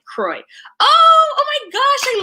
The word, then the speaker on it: Croix: weather was nice and it's pronounced like troy kroy oh oh my gosh